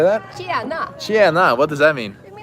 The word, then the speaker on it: tjena: Tjena.